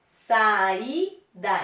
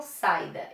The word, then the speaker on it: saída: Saída. Eu não falo saída, eu falo saída.